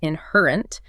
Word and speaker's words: inherent: The stress is anchored on the second syllable of inherent inherent and the second syllable of complexity competiti and competitivity.